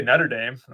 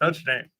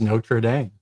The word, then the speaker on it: Notre Dame: Well, because when I say Nutterame, people That's what it sounds like.